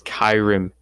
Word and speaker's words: Kyram: I just want to say I was pronouncing his name Kira. Nah, it's Kyram.